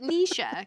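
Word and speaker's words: Necia: But you pronounce it Nisha. Kind of like Alicia.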